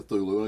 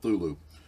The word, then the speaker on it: Cthulhu: creature called thulu um he said that human tongues cannot pronounce his name properly so you pretty much has gives you a license to call it whatever you want to I'm going call it a thulu that looks like a